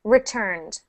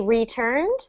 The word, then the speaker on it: returned: Returned. Say it one more time. Return. Good. So for that one, we don't really emphasize, or we don't pronounce the E part. We don't say returned.